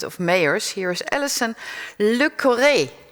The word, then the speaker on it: Le Corre: Here is Alison Le Corre. Is that pronounced correctly? Almost. It's Le Corre. Almost. Le Corre. So what is the right pronunciation? Le Corre.